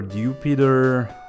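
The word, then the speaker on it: Dewpider: But then at the same time we have Dupider or Dupider as the official pronunciation apparently is for it and Araquinid which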